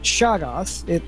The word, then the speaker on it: Shoggoth: Well, she has a six-dimensional TV, and she has a pet Shoggoth. That's how it's correctly pronounced?